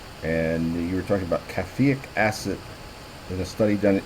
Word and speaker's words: caffeic acid: And you were talking about caffeic acid in a study done in India and published in 2008. Scientists investigated the radioprotective potential of caffeic acid. Am I pronouncing that right? Caffeic acid, yes.